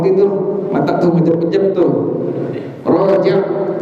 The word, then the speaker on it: Rajab: Rajab, ro fathah apa? Ro, nggak ada. Ro fathah re, nggak ada. Ro fathah ro, kan kaidahnya jelas. Roni rubar ruror roni rorna minal murni mariror roni ro jelas. Ro fathah ro, bukan Rojab, bukan bulan apa?